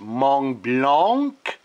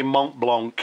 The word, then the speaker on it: Montblanc: I know it should be pronounced Montblanc, but I just simply say Montblanc.